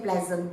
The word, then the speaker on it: pleasant: Pleasant you don't say Pleasant pleasantest no so this one I have heard people pronounce is Pleasant no it's Pleasant you don't read the a you just say p l e pleasant as polite as more